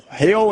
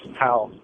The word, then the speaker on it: Hal: Hale in Arkansas. How do you say your name? Hey, it's Hal. It's Al with an H. Hal.